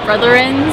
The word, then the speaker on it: Brotherins: I always go hashtag Team Brittany44 and then hashtag Brotherins. Brotherins. Brotherins. Like Slytherin, but Brother. It's inspired by Slytherin.